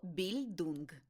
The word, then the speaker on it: Bildung: Ба більше - це більдунг. Про більдунг. Не існує англійського відповідника слова більдунг, тому доведеться використовувати німецький оригінал. Вимовляйте його більдунг з наголосом на першому складі.